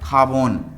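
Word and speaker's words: jabón: एन पे जो खत्म हो रहा है खाबोन, खाबोन। देखिए जे का प्रोनाउंसिएशन बहुत ज़्यादा स्पेशल है, खोता इसे बोलते हैं।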